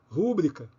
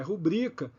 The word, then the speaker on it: rubrica: pudico ibero tavo cuidado todas essas 12 palavras que li são palavras paroxítonas e eu retirei essas